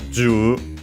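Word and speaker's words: 十: We have the 10, most likely in this case pronounced with the Chinese reading, as it's the most common one in such a situation. So, ju, saigo wa ju appu no daichansu.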